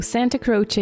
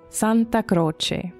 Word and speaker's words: Santa Croce: Santa, like Santa Claus, and Croce, like Jim Croce. So, of course, that's how you say it in English. In Italian, it sounds like this, Santa Croce.